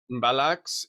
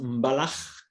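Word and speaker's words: Mbalax: Okay, so it's actually pronounced Mbalach. Balak. Yeah, the X it's like a. We have it in Hebrew. We call it Chet Mbalach.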